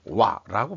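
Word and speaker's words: 和: 일본이 그렇게 자랑하는 와라고 발음하죠. 그쪽에서는 와.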